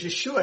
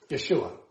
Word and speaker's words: Yeshua: Because Yeshua has a SH sound in it, and Greek doesn't have an SH sound.